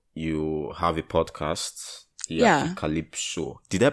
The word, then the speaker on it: Africalypso: Africalypso. Did I pronounce it well, I beg? Yeah, you actually did. I have a lot of people say Afrocalypso or Afropocalypse.